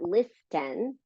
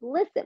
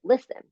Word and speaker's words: listen: glue to the phones note the um silent letters right it's not listen it's listen we pronounce it listen right you've got Island